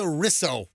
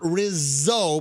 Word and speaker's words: Risso: let's everybody meet teresa risso not rizzo but risso ris or so she's 43 years old